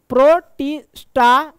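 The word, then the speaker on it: Protista: ठीक है यहां देखो मेरा प्रोनाउंस थोड़ा गड़बड़ है मेरे भाई अब कोई कमेंट मत प्रोटिस्टा होता है ठीक है प्रोस्टा हम पढ़ते हैं अगर स्लो बोले तो ठीक आएगा ठीक है जगत प्रोटिस्टा प्रोटिस्टा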